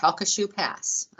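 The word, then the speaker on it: Sabine Pass: it's taken me a while to learn to pronounce this it's shoe pass came online in february and now daily we're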